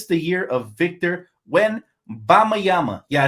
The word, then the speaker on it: Wembanyama: But what team would you like to see Victor Wembanyama? Yeah, I said it right. It ain't Victor Wembajamas. It's Victor Wembanyama, man.